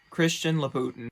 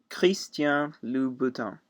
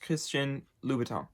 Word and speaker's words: Christian Louboutin: of this brand is Christian Louboutin or fast Christian Louboutin and it is a French designer and so it has a French pronunciation if you don't know